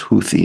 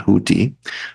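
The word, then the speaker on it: Houthis: uh the huthis which by the way is pronounced Hui not houti um and and and Hamas uh that's the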